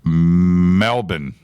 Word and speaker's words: Melbourne: Glenn says Melbourne is pronounced Melbourne.